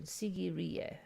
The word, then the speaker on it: Sigiriya: lion rocks and challah sigiriya sigiriya that's the pronunciation sigiriya they're calling it a fortress but i mean